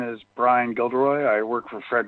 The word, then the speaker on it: Brian: your time maggie the next three speakers are byron gildery tammy hetrix and keith allery um is